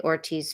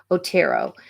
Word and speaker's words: Otero: the brother who walked in and found the Ortiz family uh not Ortiz it's or tunnel I'm sorry I hate to mispronounce um the victims names yeah Otero the Otero oldest son was featured in a